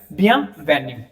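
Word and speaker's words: bienvenue: अब आई इ एन है वो नोजल साउंड हो जाता है और फाइनल ई जो है वो साइलेंट हो जाता है। ठीक है? क्योंकि इ तो एंड में ऐसे भी म्यूट हो जाएगा।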